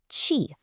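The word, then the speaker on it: 气: And then on the right side, we have chi, pronouncedqi, which means air or even steam.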